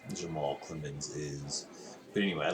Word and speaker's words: Clements: is his name again clemens rhymes with limits our great has him